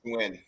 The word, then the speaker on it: Nguyen: I'm pretty sure the last name is Nguyen. It's like win.